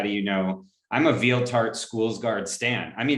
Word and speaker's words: Valter: i actually usually say veal tart so it's like a dessert with feel it's very that's how it's pronounced in swedish actually alter actually made following